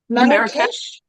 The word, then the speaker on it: Marrakesh: How do you pronounce that, Shannon? Shannon? Marrakesh?